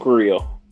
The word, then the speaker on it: Carrillo: Humberto Carrillo. Yeah, you see I finally pronounced it right.